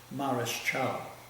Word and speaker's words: Mareschal: In those days the word was not pronounced Marshall, it's Mareschal.